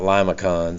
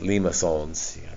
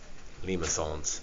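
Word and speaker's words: limaçon: so cardioids and remember that's not Lima cons it's Lima songs pronounce it all fancy Lima songs um Friday we did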